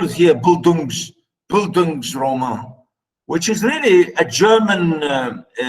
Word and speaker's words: Bildungsroman: I said a German pronunciation. You can see here, Bildungsroman, you know. I'm trying to say it in the English, in the German pronunciation.